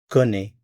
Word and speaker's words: connais: So if I want to say, I know, I'm familiar with, I'm acquainted with, je connais, C-O-N-N-A-I-S, je connais.